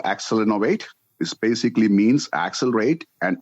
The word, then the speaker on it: Accelinnovate: It's called Accelinnovate.